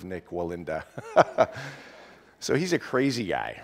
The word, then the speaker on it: Nik Wallenda: many have heard of Nick Walland ah it probably didn't pronounce that right Nick Wall and Melinda so I have you have heard of Nik Wallenda so he's a crazy